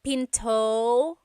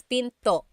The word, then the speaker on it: pinto: is pin and remember don't forget the glot stop don't forget to stop the sound at the end that's called a gladle stop Pinto Pinto it's not Pinto it's Pinto stop it at the